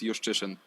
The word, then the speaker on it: Juszczyszyn: But the correct way to say it's Juszczyszyn.